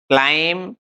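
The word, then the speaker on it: climb: इसको डम्ब नहीं बोलेंगे, इसको क्लाइंब नहीं बोलेंगे। यहाँ पर जो बी है वो बिल्कुल साइलेंट रहने वाला है। बी को हम चुप कर देंगे और इसको बिल्कुल भी नहीं बोलेंगे।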